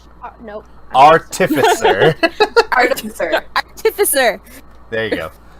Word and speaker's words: artificer: I can never Artificer. pronounce Nope. Artificer.